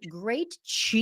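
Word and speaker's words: Krejci: k r e jci i pronounced like great Chi you know like you have great energy that's how I remember how to pronounce your name um and then with martha.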